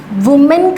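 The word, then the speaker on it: women: इसको प्रोनाउंस किया जाता है विमेन, ई यहाँ पर प्रोनाउंस करते हैं हम, विमेन बोलते हैं।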